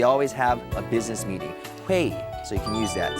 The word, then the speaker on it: 회의: 회의, so you can use that. Say it with me, guys. It's also one syllable.